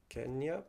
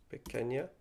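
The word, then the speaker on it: peña: Yama yep auna chica I think it's penya but again the N is actually an Ena it's not an N penya ah Peno H I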